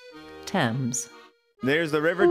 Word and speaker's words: Thames: Pronounce Thames. There's the River Thames.